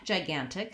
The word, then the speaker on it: gigantic: look at the word gigantic the first thing I notice is that it has second syllable stress but it has a clear vowel on the first syllable so it has secondary